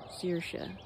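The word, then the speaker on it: Saoirse: can say this right seersha you're supposed to say it like inertia searsha learning center and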